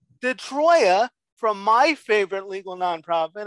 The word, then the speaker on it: DiTroia: how do you say your last name detroya detroia from my favorite legal nonprofit i do play